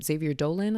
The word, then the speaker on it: Xavier Dolan: Xavier Dolan, I think is how you say his last name.